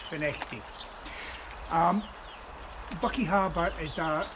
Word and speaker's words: Findochty: point uh for those not to know FTI is spelled f but um saying fuct is not incorrect but it'll show you to be perhaps an outsider so it's pronounced finity um Bucky Harbor is a a very significant